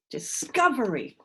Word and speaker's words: discovery: Where was that? Discovery. That's the one. Syllable number 2. Discovery.